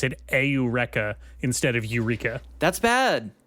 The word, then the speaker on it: Eureka: one what was that one uh Eureka 7 pronounced aa aa aurea that can't be I don't think that's right that can't be right that can't possibly be true it's spelled Eureka uh it is spelled Aura and that is